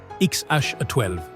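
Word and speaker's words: X Æ A-12: En mai 2020, leur premier enfant naît XH a 12 Musk. prononcé XH12, un nom qui déclenche un délire médiatique.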